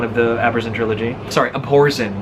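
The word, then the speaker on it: Abhorsen: the Amazon trilogy sorry up Orson that's how they pronounce it I used to think whoever's in cool it's like but it's like a play on the word abhor re Salvatore is timeless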